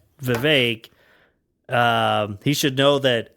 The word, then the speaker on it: Vivek: guess Vivek might over Vivek which rhymes with cake might overtake uh nice